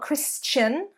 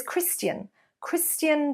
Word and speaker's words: Christian: So it is not Christian Dior, so a chun there, Christian Dior, but it's Christian Dior, Christian Dior, so a st rather than a ch. So one more time, Christian Dior, Christian Dior.